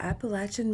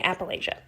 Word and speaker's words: Appalachia: If you're not from Appalachia, you probably say Appalachia. I only ran into one Midwesterner in my entire lifetime when I was telling them about where I'm from. I'm from Appalachia. They said it's pronounced Appalachia. I said, oh, bless you.